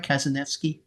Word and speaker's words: Kazanevsky: Um Khaled Albbe from Sudin cartoonist and Vladimir Kazanvki, a Ukrainian cartoonist. I practiced pronouncing your last name all of yesterday to make sure I got it right. Did I get it right, Kazanki?